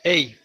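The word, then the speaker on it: ה: La lettre se prononce Ei.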